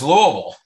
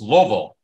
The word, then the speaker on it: Louisville: I didn't note that it is Louisville not Lewisville and usually if you've lived there a long time it's two syllables it's Louisville it took me a